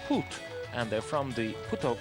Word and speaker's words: Put: the Croatian performers they're called put P but pronounced put and they're from the put Kazi choir which